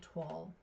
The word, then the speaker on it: toile: today is called autumn twall. And remember, it it's spelled it's I think it's a French word or something. T O I L E. Uh, it rhymes with fall.